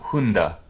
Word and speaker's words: Hunde: And then there are other forms of that word where it's followed by a vowel, and you see the voiced D. So that would be like, you'd say Hund, but Hunde.